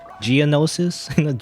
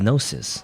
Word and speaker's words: gnosis: at least have uh gnosis yes or gnosis how you say the gnosis geonosis geonosis that's the planet in star wars the gnosis that's what it is again it's weird that